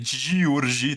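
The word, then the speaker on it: György: Escola de Frankfurt foram beber na fonte do Georgi Lukács. Que ele escreve de um jeito parecido com George Lucas, né? Georgi, né? Georgi, tudo com Y, e Lucas, só que é com K-A-C-S no final, né?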